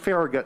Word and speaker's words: Farragut: was a bilingual bicultural latino david oh it's pronounced farragut in dc there's a metro stop farragut square